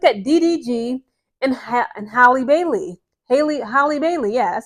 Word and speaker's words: Halle Bailey: Halle Bailey, yeah, that's how you pronounce it.